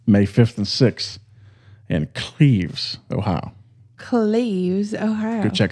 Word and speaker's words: Cleves: Cleves. It's Cleves.